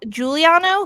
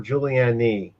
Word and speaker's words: Juliano: Juliano. Juliano. Although I'll Juliano. answer to anything, it's always mispronounced.